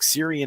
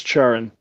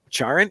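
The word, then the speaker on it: Ciarán: say his name wrong syrian heinz che i think it's charon charon okay yeah with when there's a c in an irish name you'd never know um troy uh kotzer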